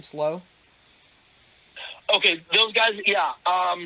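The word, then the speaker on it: Slough: men let me see us is is it pronounced slow last name slow okay those guys yeah um slow liberty heard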